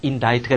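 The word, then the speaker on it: indict: 그러면 고발하다, 기소하다, 인다이트가 되는 거지. C가 묵음이 되는 거 일단 조심해주고, 두 번째 예문은 쉬우니까 빨리 들어가자.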